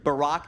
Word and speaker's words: Barack: Barack that rhymes with Iraq, okay?